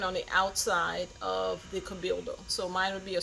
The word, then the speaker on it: Cabildo: going to be at the how do they pronounce it? The Cabildo. It'll be at the Cabildo.